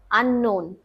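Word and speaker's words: unknown: বাট মাঝখানে কে আছে? ইউ এন কে এন ও ডবলিউ এন। মাঝখানে কে এন আছে। তাই এখানেও সাউন্ড এন এর মত হবে। আননোন।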